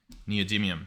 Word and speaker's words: neodymium: Neodymium. That's how you guys told me to pronounce it.